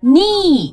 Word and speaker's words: knee: 对，类似的单词呢还有很多，knee 膝盖，K N E E K 不